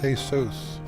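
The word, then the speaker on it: Jesús: It's pronounced Jesus.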